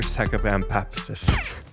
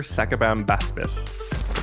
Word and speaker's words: Sacabambaspis: Super Tibetan Fox, and of course, the Super Sacabampapsis. Nailed it. Super Sacabambaptis. You're so close. The Super Sacabambaptis. The Super Sacabambaspis, which I definitely pronounced right every single time.